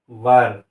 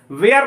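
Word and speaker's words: were: वेयर नहीं बोला कीजिए, सही प्रोनाउंसिएशन वेयर नहीं है, वर है, ठीक है। क्या है? वर, नॉट वेयर, है ना। 99% स्टूडेंट्स को देखते हैं कि वेयर वेयर वेयर बोलते हैं, नहीं, वर सही प्रोनाउंसिएशन है, वर।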